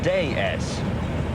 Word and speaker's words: DS: is in France pronounced day s days it's the French word for goddess it was no is